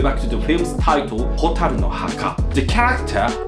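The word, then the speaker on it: 火垂るの墓: However, let's take a closer look at the Japanese title, Hotaru no Haka, pronounced Hotaru no Haka.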